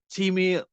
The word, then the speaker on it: Timmeh: just Timmy or how how should I yeah you can just say Timmy I mean I got